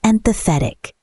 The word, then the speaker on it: empathetic: If you can understand and share how someone feels, you're empathetic. Pronunciation tip: empathetic. Stress the third syllable.